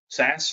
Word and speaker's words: SaaS: Yeah, because they also do a multiple of revenue because of the turnkey nature of software as a service, SaaS, commonly pronounced just a SaaS company.